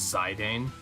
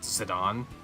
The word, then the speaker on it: Zidane: because that's wrong yeah I always thought it was like zidane I think some people thought it was zidane but it's zidon yeah I don't know